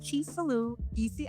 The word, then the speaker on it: Chisolu: It is pronounced Chisolu, so.